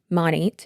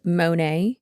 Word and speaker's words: Monat: Now, since 2020, we have been following the multi-level marketing company Monat, which stands for Modern Nature. That's why it's called Monat instead of Monet or Monat, because these goddamn illiterate